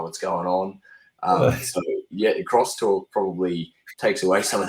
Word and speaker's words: X-Talk: Talking about I like crosstalk, right? Still spell it X Talk, but call it crosstalk, because I think that's a little bit more explanatory.